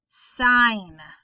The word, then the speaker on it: sign: entirely silent okay gn sign okay the g is silent and we really just hear the n sound again design a sign